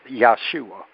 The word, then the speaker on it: Yahshua: um uh which uh the correct pronunciation of the true scripture uh of of the Holy Bible his name is yahshua uh now uh merciful